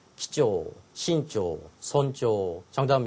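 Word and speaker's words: 貴重: 기조, 신조, 손조. 정답은 몇 번? 쪼라고 읽어야 되고요. 앞에는 귀할 귀자는 점점 요소가 없이 기조.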